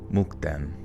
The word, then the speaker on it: Mukden: name for Shenyang uh the name mden comes from Machu and is pronounced mukden okay luano they provided